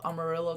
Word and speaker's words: Amarillo: right now if you go to Armour Amarillo Amarillo Texas I finally said it right I think